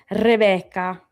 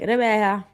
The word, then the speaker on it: Rebecca: My husband's Italian and he says my name like Rebecca, right? Because they don't pronounce their C's in in Florence. So it's actually like Rebecca.